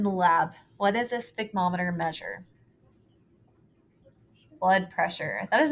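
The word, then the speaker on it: sphygmomanometer: We do not pronounce it the way that it's spelled. I think probably because somewhere along the lines it was hard to say and somebody got lazy. But it is called a sphygmometer.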